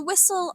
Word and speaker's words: whistle: It's spelled with a silent H and pronounced whistle.